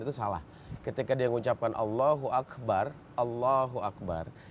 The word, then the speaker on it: Allahu Akbar: Allahu Akbar Allahu Akbar ketika dua kalimat itu Disambung itu harus diwasal namanya harus disambung dan cara bacanya juga beda Allahu Akbar Akbar itu yang benar jangan Allahu akbar Allahu akbar karena di situ ujungnya